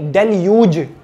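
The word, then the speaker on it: deluge: next है डेल्यूज, डेल्यूज नहीं डेल्यूज, इसका प्रोनाउंस होगा डेल्यूज, इसका मीनिंग होता है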